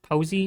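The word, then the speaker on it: Poésy: It's Posie. It's P O E S Y.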